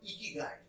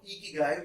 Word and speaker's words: Ikigai: is a Japanese concept called Ikigai. At least that's how I pronounce it. The Japanese might pronounce it differently.